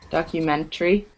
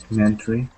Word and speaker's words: documentary: secretary separate documentary Elementary so even though that a is there when you pronounce them naturally you don't hear it it's silent so Rennie do you